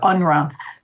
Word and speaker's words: UNRWA: relief Works agency or unra as that nasty acronym is pronounced was the spoke created